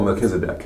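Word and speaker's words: Melchizedek: this word correctly mel m how do you pronounce the order of the oh mechazedc meisedc it reminds me of a of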